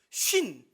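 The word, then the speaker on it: σύν: 쉰. 그러니까 발음이 똑같아요. 50을 의미하는 한국 단어와 똑같습니다. 쉰이에요.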